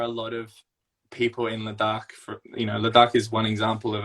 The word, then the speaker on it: Ladakh: Ladakh.